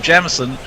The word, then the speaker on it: Jemison: in my calo youth persons of the surname jemison were pronounced as in jam rather than than jame he thinks because of